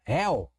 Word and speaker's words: Réu: Réu. Por que monossílabo, professor? Só tem uma sílaba. Réu. Você não pode separar aqui ré, u, ok? Não, é réu. Réu. Você gastou um impulso sonoro único para falar.